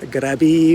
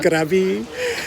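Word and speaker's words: Krabi: in grabby K yeah in Thai it's pronounced grabby but would anyone know what I'm saying other than a Thai person if I said crabby hey but this video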